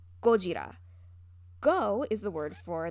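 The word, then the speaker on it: ゴジラ: young you say yo in japanese godzilla is pronounced gojira go is the word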